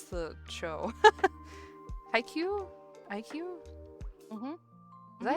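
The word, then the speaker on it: Haikyu: IQ. IQ. Mhm. Is that how you pronounce it? Okay, it's uh hi and then Q.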